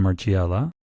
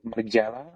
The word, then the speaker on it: Margiela: was known as the higher end brand Martin Margiela, who is Belgian, Yeah.